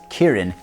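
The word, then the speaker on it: キリン: But actually in Japanese, a giraffe is still called Chilin, same characters, although it's pronounced Kirin in Japanese.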